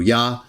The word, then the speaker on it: Jah: Yah, consistent with Greek and Aramaic, the three biblical languages. And of course, I also believe that his name was originally pronounced Ya.